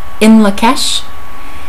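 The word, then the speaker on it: In Lak'ech: I believe it is Turkish, and it is pronounced in Lakesh, and it is that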